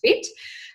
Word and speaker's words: FHIT: fit by Lauren Hannaford FH IT but pronounced fit and that's been running